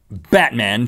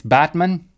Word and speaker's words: Batman: be middle far they added a TOA next Batman Turkey Batman Turkey turkey's a country Batman's a place um you're not pronouncing it correctly it's Batman but it is real it isra you're on